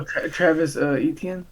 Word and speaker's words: Travis Etienne: Oh, Travis Etienne?